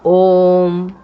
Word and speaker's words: ओम: जैसे ओम, इसमें ओ है, दीर्घ, उ छोटा उ ह्रस्व है और म है, तब ये मिलकर के बना है प्लुत स्वर।